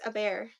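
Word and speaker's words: Hebert: bear wait really yeah so h e a h e b e ER T and it's a bear that that makes sense that makes way more sense but I was also pronouncing it in my head as Herbert as Herbert yeah yeah yeah Melanie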